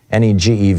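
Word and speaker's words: Negev: in the ne neg I think it's pronounced negtive NE gev it's the big desert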